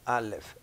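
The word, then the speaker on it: álef: en hebreo que es la letra al left se pronuncia a left equivale a la a en español en la primera letra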